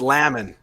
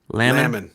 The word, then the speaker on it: Laman: John says it's pronounced Laman, like jam. Laman.